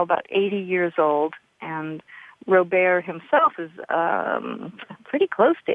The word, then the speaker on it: Robert: His last name is spelled Ouimet, and Robert is like Robert, only in French, Robert Ouimet.